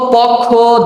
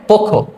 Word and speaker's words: পক্ষ: নিবা তারপরে শব্দটা দেখ আমরা সাধারণত পক্ষ দক্ষ দক্ষ অক্ষ এরকম উচ্চারণ করি কিন্তু সবগুলি আমরা ভুল উচ্চারণ করি এই ক্লাসটা দেখলে